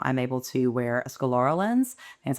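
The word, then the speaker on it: scleral: eyes and now I'm able to wear a scalora lens.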